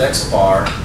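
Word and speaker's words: x̄: distinction x bar which is the sample view pronounced at x bar that's the sample mean it's calculated by just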